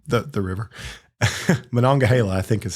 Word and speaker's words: Monongahela: Monongahela, I think is how you say it.